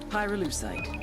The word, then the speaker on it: pyrolucite: yeah neither did I pyrolucite key syllable pyro by the way is